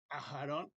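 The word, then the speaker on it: אַהֲרֹן: Ahora vamos a leer esta palabra que dice Aarón y Ajarón, Ajarón, y es el nombre que conocemos nosotros, que es muy familiar, que es el nombre Aarón.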